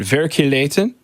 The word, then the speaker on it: Verkligheten: Verkligheten.